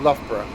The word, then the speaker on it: Loughborough: word of bird of loughborough of course we have a word that really confuses our american cousins because the first ough is pronounced luff and the second is